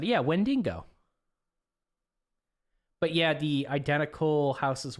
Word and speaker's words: Wendigo: Zinka's right, it's pronounced the second way you said it. Yeah, Wendigo.